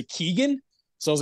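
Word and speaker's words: Keoghan: pure way yeah yeah because I've been corrected before like people are like no it's Keegan and I'm like I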